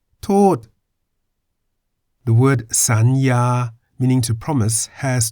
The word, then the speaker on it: สัญญา: As a final consonant, yo ying sounds like an N.